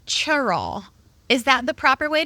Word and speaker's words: Cheraw: years 50 years okay now and you said churl is that the proper way to say it